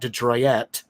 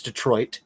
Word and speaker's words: Detroit: that's gonna be yeah Detroit not detroy robber looking at you looking at you it's Detroit Detroit that's it just two syllables it's not three syllables thank you uh but